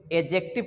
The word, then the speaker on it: adjective: आप लोग कैसे करेंगे तो डी को साइलेंट करके यानि जो दिए यहां पर लिखा हुआ है इस डिश को आप नहीं बोलेंगे एगजेक्टिव पढेंगे को छोड़ दीजिए एगजेक्टिव